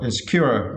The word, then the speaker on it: insecure: And for the next word, insecure, and for this word you need to stress the third syllable, right? Cure, insecure, okay?